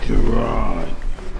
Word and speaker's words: Gerard: Gerard. Gerard's like Jermaine? Gerard. Gerard's like Gerald.